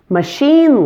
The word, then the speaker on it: machine: First, let's tackle the CH. It's pronounced here as an SH. Notice, machine. Do not stop the airflow for that SH sound. It needs to be continuous. Machine. Also, make sure that you stress the second syllable in machine and that the first syllable is a very quick schwa sound again.